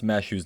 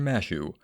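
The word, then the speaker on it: Mash: something else number 48 when fans had no idea how to pronounce Matthews name upon launch they simply called her masu however it was revealed through a craft essence at Valentines that her name was really Matthew the exact spelling or pronunciation is further confused by the fact that the English translation has her listed as mesh to this day many fans just call her Matthew number 49 for a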